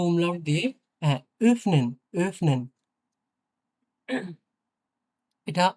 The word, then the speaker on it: öffnen: কিছুটা এর মতো উচ্চারণ হবে মেডসিন। ওকে? হ্যাঁ, মেডসিন মানে মেয়েটি। আর এটা হচ্ছে ও umlaut দিয়ে হ্যাঁ, öffnen, öffnen। এটা ওফেনেন না, öffnen, öffnen, হ্যাঁ, öffnen, öffnen।